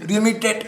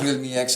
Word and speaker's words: Realme X: You read Realme X, you go like Realme 10. Am I saying it wrong? Okay, no, it's Realme X.